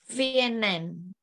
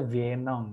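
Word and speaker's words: viennent: Vienen. Oke. Pakai ENT bukan? Tapi jawab pronunciasinya enggak ya? Vien. Enggak. Pronunciasinya vien. Oh, vien. Vien. Vien. Oh. Vien. Nah, jangan pernah dibaca vienong, jangan.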